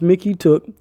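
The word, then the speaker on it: Mykytiuk: professor of library science Mickey took pronounced Mickey took has added three names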